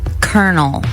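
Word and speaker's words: colonel: pick and choose like the word kernel like the c o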